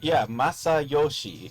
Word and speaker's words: Masayoshi: No, because it's not the correct number of syllables. In Japanese, Masayoshi.